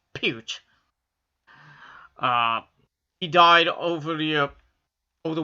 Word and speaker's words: Peart: Not Peart. Peart. Peart. It's pronounced Peart.